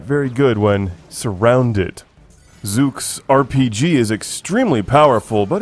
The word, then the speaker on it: Zook: looks kind of weird zuk and his name is odd too because if you say it wrong like zook it sounds like a tablet that you could use for reading I'm enjoying Harry Potter